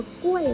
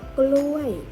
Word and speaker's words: กล้วย: ตัว ไหน ถูก ด้วย ไม่ ได้ อ่าน ว่า ก้วย นะ มัน อ่าน ออก เสียง ว่า กล้วย ก็ รอ ๆ ยักษ์